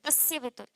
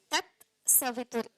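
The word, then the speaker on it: तत् सवितुर्: साथ डाला हुआ है तस्य वितु तस्य कहीं नहीं लिखा होता आप मंत्र को कहीं भी देखना लिखा होता है त सवित क्या लिखा होता है तत सवित बोलिए तत सतु मेरे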